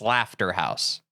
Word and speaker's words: Slaughterhouse: This one is pronounced Slafterhouse.